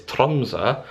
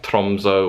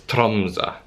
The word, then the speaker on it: Tromsø: to my next destination which of course is tronsa as i found out how it's pronounced because all this time i've been saying like tromso or tromso it's tromsa so if anyone is coming to norway you